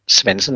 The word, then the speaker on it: Svensson: if there's a so my name is Svensson, as you know, but it's spelled with a D in the middle, but the D is silent.